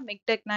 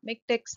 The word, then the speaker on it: MiKTeX: இப்போ நம்ம மிக்டெக்னா என்னன்றது பார்க்கலாம். மிக்டெக்ஸ் அப்படின்னு சொன்னாலும் ப்ரொனவுன்ஸ் பண்ணும்போது என்ன சொல்லணும்னா மிக்டெக் அப்படின்னு தான் சொல்லணும்.